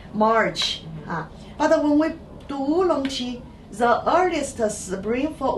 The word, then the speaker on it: oolong: The people, when they call these dry tea leaves the black dragon, so they made the local pronunciation is oolong. So later, when other people, other region follow them to make the oolong tea, the same way